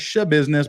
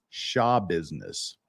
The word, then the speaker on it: Schabusiness: taylor shaw business day we've always been pronouncing your name taylor's show business but from the horse's own mouth so to speak uh it's shaw business so before we get